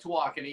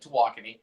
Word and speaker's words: Tawakoni: give us a background so we're at Lake to walking and that's how you pronounce it we go all over the state